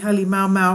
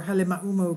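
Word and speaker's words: Halemaʻumaʻu: The lake, located inside the Halemaumau or Halemaumau crater, whichever way you want to pronounce it, is found on top of Kilauea.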